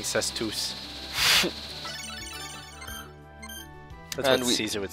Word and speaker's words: cestus: weapon fish weapon now it's a cestus i believe it's pronounced i'll keep saying says tooth that was easy would